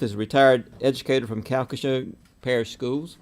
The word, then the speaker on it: Calcasieu: Mary Beth is a retired educator from Calcasieu Parish Schools.